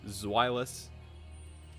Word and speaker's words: Zweilous: Galnex says it's easy enough to say it's pronounced Zweilous.